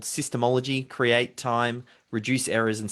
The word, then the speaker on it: SYSTEMology: As you've just heard, David is the author of SYSTEMology. Is that how you pronounce it? Yeah, SYSTEMology.